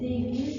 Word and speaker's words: Davies: Miss, is it Davies or Davis? Davies. It should be pronounced Davies, but it's a proper noun. Davis would be spelled differently.